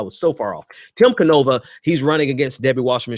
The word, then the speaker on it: Canova: And that's by virtue of Debbie Wasserman Schultz, which reminds me, Tim Cavanova, I believe is how you pronounce his last name.